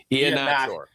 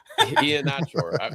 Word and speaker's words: Iannaccio: How did you pronounce it? Iannaccio. It took me a long time to find out how that was said. Yeah, I said it wrong forever. Iannaccio.